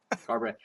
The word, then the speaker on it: Garbrandt: Uh Cody Cody Garbrandt What How do you say his name? Garbrandt? Garbrandt.